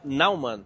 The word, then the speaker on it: Naumann: Agradeço demais aqui a participação da doutora Tatiana Naumann. Pronunciei certo o seu nome, doutora, por favor?